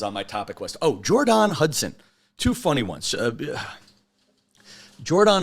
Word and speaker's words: Jordon: And I guess Jordon Hudson, I like to call her Jordon Hudson because it's spelled Jordon.